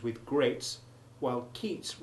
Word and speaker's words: Keats: But please don't ask me why Yeats rhymes with greats while Keats rhymes with eats, because I haven't the faintest idea.